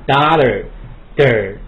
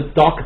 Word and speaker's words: daughter: daughter 美音 daughter 你选一个 daughter 你会读 der 啊 daughter 对，你不要读 doctor 这是不对的哈。